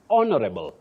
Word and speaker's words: honorable: That H is silent. You also say honorable.